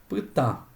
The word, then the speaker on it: pytã: Ejemplo, ta, pytã. Pytã. Es una sílaba nasal y lleva el acento porque forma sílaba con una consonante oral.